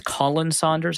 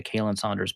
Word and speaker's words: Colin Saunders: Because there was I think it's Colin Saunders. I can never pronounce his name correctly because I just want to say Kalen Saunders.